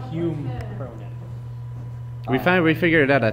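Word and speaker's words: Hume Cronyn: Hugh McCronin. No, Hume Cronin.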